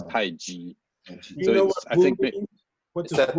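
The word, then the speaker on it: 太極: that the romanization of Taiji is CHI, the Wade Giles early romanization. So people pronounce it Tai Chi. And it should not be that.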